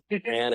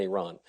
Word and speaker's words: Iran: That's a combination of the liberal pronunciation and the conservative pronunciation. Iran and Iran.